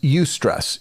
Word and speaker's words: eustress: good stress the term for good stress is eustress it's spelled e-u-s-t-r-e-s-s eustress it's the intense feeling you